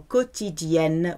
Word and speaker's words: quotidien: Q-U in French is pronounced K. Okay, think of the word quiche. You don't call it a quiche. So it's not quotidien here. It's, imagine it's got a K there. Quotidien. Quotidienne.